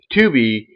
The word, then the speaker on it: Tubi: will not be surprised if Tubi, and again that's spelled T U BI, Tuby, they would not be surprised if Tuby ends